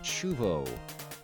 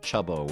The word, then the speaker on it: Chubo: Chubo is pronounced Chubo, although the TTS likes to say Chubbo, which is also fine.